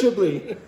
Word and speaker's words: Chablis: It's still pronounced Chablis.